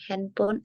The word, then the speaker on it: handphone: Handphone, bukan handphone. Karena P handphone ketemu H dibaca F.